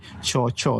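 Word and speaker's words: Kyaw Kyaw: His name is, the spelling would say Kiao Kiao, but his name is actually, the way you mention, you pronounce it is actually Cho Cho, isn't it?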